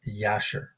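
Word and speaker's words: Jasher: from the book of yasher okay Jay it's it's with a J but it's pronounced J is pronounced like a y um so looking at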